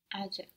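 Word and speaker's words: acak: Ajak. Ajak. Good. This is spelled E-C-E-K. Or A-C-A-K. So we see that the C in Turkish makes a J sound, J.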